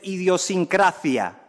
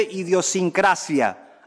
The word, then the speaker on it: idiosincrasia: legal del castellano mire no se dice idiosincrasia se dice idiosincrasia aunque usted persiga el